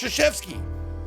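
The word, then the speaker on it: Krzyzewski: coach k from duke look at his name it's pronounced shashevsky are you [ __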